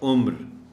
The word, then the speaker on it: عمر: ہے عین میم رے، اگر تو اس کے یہ ایج کے معنی میں ہے تو اس کا تلفظ ہوگا عمر، لیکن اگر یہ نام ہے تو پھر عمر ہوگا۔ یہ بہت خاص نقطہ